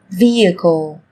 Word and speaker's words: vehicle: Trong tiếng Anh cũng có một số từ mà cách viết chúng ta thấy xuất hiện chữ cái h, nhưng khi phát âm thì chúng ta lại không cần phải phát âm này, người ta còn gọi là âm h câm.